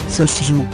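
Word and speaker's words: 소주: On a appris à prononcer Soju, Sochju.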